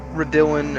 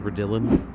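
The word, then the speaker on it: Raidillon: Looks like it's Radillin and then Eau Rouge. Is that the pronunciation? Redillon?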